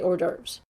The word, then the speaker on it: hors d'oeuvres: spell like it sounds it's hors d'oeuvres say hors d'oeuvres or derbs said pearl there you go so